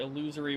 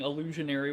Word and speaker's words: illusory: It just had illusion sorry illusory walls. I've been saying illusionary walls for a long time, but apparently that's not the right way to say it.